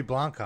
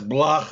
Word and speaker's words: Blacha: said you're russian it's you know who says block sounds like a vampire but it means it's polish it means the metal tin or like a policeman's